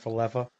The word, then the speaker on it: Falefa: He was the pinch runner for Bo Bichette in Isaiah was Kiner it- Falefa. Wow, Yeah. Brad. Great pronunciation, You're welcome.